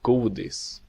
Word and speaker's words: godis: godis, Godis. and words with more That's how you than say one candy, syllable where the godis.